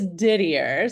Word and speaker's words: Didier: your last name correct is it it's Didier so it's French for uh most desired my husband loves to